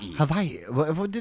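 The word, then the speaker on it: Hawaii: he gets one from havai now now I don't know why he keeps saying hav by the way uh we heard that with the Maui coverage that's how the locals Say Ha Havi no yeah but you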